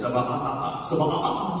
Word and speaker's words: Sabat: Sabat.